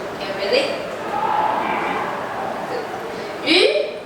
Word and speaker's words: 鱼: 鱼, the pronunciation in Mandarin of 鱼 sounds similar to the word extra.